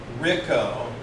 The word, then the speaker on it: Rico: So Rico, like Rick-O, Rico is the way that we tell most people to pronounce it.